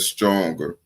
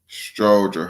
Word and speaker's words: Stroger: He said Stronger. It's Stroger Hospital, not Stronger. But yeah, if you're not from there, you might pronounce it, but it's Strogers.